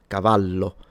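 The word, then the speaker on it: cavallo: And one last thing I wanted to say is that of course the double L in Italian is just pronounced as a longer slash stronger version of the single L. So, Cavalo, if this was spelled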